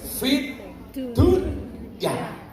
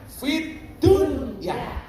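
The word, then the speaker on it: في الدنيا: Ketika berbicara dunia, itu kita disuruh membacanya dengan idhar. Idhar itu artinya apa? Jelas. Fit dunya. Ini menunjukkan apa? Urusan dunia itu harus jelas. Makanya kamu kerja di Hong Kong sebagai kunyan atau sebagai apapun, itu gajimu juga diperjelas dari awal. Makanya membacanya idhar. Fit dunya. Bukan idgham. Fit dunya.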